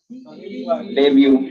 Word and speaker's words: debut: डेब्यू इस डेब्यू T silent है.